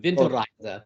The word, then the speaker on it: Winterreise: Winteries. What does that mean to you? Well, I'll give you the German pronunciation of it, Winterreise.